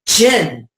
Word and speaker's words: jinn: Our favorite root word for the Arabic classification of a dragon being a jinn, okay? Either spelled with a D-J-G-N or the D-J-I-N-N, J-I-N-N, jinn as in gin and tonic, gon as in dragon, gen as in genetics, or gene or genesis or genius.